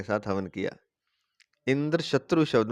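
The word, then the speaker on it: इन्द्रशत्रु: तो कहने का तात्पर्य है कि अगर इंद्र शत्रु शब्द का उच्चारण करना है तो इंद्र शत्रु, त्रू जो है उसका उदास स्वर से होगा।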